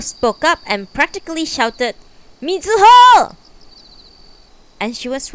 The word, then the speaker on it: Mizuho: years of elementary school me zu ho they would say stretching out the last syllable for emphasis i like it weather